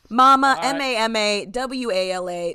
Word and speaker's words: Mamawala: it's just my if you can actually spell and pronounce my actual name ma ma ma ma wala very easy very easy turns out it's actually